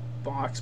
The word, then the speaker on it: Bochs: So, if I get it in the camera right, just type the word Bochs, but it's spelled B-O-C-H-S instead of B-O-X.